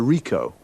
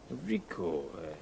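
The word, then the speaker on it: Ricoh: a camera what make and model it's a rico rico how do you spell that r-i-c-o-h okay got that now you say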